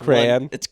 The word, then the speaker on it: crayon: crayon or crayon crayon it's crayon it's one syllable crayon crayon crayon i